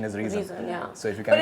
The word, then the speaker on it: Rheson: and Sonam but still we be calling the pronunciation is reason so if you can but it's still I